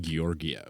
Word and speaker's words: Georgiev: It's pronounced Georgiev.